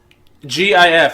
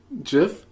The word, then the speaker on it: GIF: GIF. How do you pronounce it? GIF? How do you pronounce it? Jif? How do you pronounce it? It's GIF because the G stands for graphic.